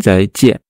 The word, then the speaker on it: 再见: Alors, pour moi, je rajoute un D devant. C'est-à-dire? C'est-à-dire que le Z, je le prononce comme un D avec un Z. Donc, Z. Fais-le. Donc, zai. C'est très bien. Voilà. Fais. Alors que le J, dans le pinyin, je le prononce comme un D avec un J.